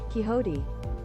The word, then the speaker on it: Quixote: Quixote. Okay, so it's pronounced Quixote.